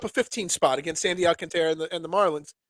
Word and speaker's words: Alcantara: going up against Sandy Alcantara or Trara. I realize I'm saying his name wrong. I've been saying Alcantara this whole time. That's not how they said it all night last night on the broadcast.